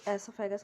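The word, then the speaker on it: oesophagus: cavity food pipe और एसो फगस व साइलेंट है इसमें तो एसो फगस बोलेंगे इसे स्टमक स्मल इंटेस्टाइन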